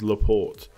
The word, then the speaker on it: Laporte: am being caps Christophsis ignore the Ian pronounce it as if it was Laporte now I think I